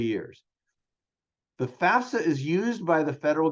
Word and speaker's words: FAFSA: The FAFSA, pronounced just like it looks, and it stands for the Free Application for Federal Student Aid.